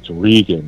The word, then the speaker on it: Reagan: Yep, and just remember it's Regan. It's not Reagan.